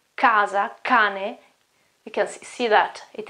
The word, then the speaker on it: cane: As in this word here, cane, cane, it's dog, okay, cane, it's not chane, it's cane. Or again, house, it is casa, casa, k, casa, cane.